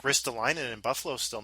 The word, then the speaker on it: Ristolainen: Like, Ristolainen in Buffalo's still not signed. Yeah. That depletes Buffalo's blue line big time without Ristolainen.